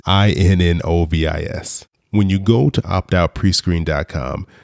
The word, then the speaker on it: Innovis: It is so infrequently referred to that I'm not quite sure that I'm pronouncing it correctly, but I believe it is pronounced Innovis, Innovis.